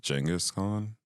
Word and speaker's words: Genghis Khan: It's actually pronounced Genghis Khan. Genghis? Yeah, but I think the guy says Genghis. Okay. I think most people say Genghis.